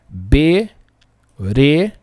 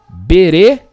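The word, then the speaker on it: בראשית: Veja que aqui esse Aleph aqui, ó, tá mudo. que significa? É uma pausa. Bereshit. Bereshit. Tá vendo que o Aleph aqui não tem som nenhum? Mas ele tá ali.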